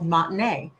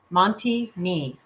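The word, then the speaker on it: Monte Ne: The town was called Montinea. If you look at it on the map, it looks like it it it looks like it's pronounced Monty Ni, but it's Montine.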